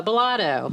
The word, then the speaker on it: Bolado: just water in our cups now and Pamela belotto is that how you say your last name